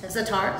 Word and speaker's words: Za'atar: Za'atar. Za'atar. Yeah. Za'atar.